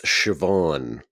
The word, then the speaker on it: Siobhan: Welsh word and that we were supposed to pronounce it like Ted or something. That that would have been embarrassing. Actually, it's Siobhan.